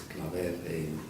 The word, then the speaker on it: Claver: So if we admire Mother Teresa today, we have to admire also, here's Peter Claver, and they pronounce it Claver in Anglicizing it, but it's Claver in Catalonian.